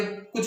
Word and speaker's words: car: जाता है, उसके आगे कुछ और नहीं बोला जाता है, तब भी ये साइलेंट रहेंगे। CAR का, क्या बोलेंगे? का, कार नहीं बोलेंगे, का।